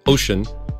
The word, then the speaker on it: Wouxun: someday in the meantime wookson pronounced ocean does have their own